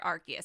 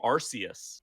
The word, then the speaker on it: Arceus: i was always saying arceus like before they announced this game i thought it was a soft c and then the the